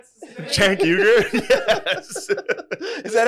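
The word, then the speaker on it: Cenk Uygur: You get Chank Uger on your ass, dude.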